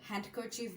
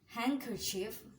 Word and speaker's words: handkerchief: badge, age, handkerchief, handsome, যেটাকে অনেকে handsome বলে, হ্যান্ডকারচিফ বলে, বাট handkerchief, handsome, hedge, sandwich, wedge, and Wednesday.